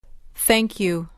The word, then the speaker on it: thank: Thank you. Thank you. به تلفظ این واژه دقت کنید. TH را نوک زبانی تلفظ کنید.